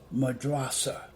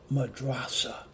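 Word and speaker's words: madrassah: were real sancho university was built as a madrasa i believe that's how you pronounce it it's pronounced madrasa and you spell it m a d-r-a-s-s-a-h and it's pronounced madrasa and madrasa in arabic will translate into the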